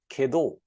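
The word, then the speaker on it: 化導: highlighted with orange, and it is pronounced as kedo. And ke means to teach, to guide, and do means the path.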